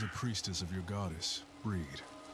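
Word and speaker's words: Brigid: She was a priestess of your goddess breed. It's pronounced breed.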